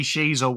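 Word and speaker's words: Sheezel: seconds to guess Harry Sheasel when I said the first name is a prince in the UK. The surname, your surname rhymes with a famous cheesy snack.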